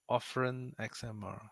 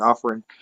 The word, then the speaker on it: Offren XMR: Offren XMR. Oh, you're not a speaker. That's how you say it. Offering. Like offering.